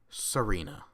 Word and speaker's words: Tsareena: okay here we are Serena because i'm pretty sure that T is silent uh some Serena have